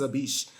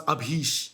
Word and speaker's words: Abish: Like, my name is Abish. People pronounce Abhish, Ashish, Abhishek.